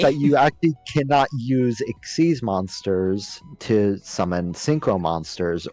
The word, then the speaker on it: Xyz: Exceed monsters. They are pronounced like exceed, not XYZ.